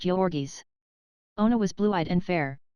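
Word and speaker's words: Jurgis: the mighty shoulders and the giant hands one pronounced jorgi's Ona was blue-eyed and fair while Georges had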